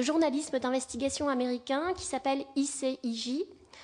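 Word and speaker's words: ICIJ: d'investigation américain qui s'appelle i say i j prononcé à la française et qui en fait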